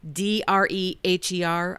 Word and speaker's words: Dreher: It's Rod, D-R-E-H-E-R. I believe it's pronounced Dreher.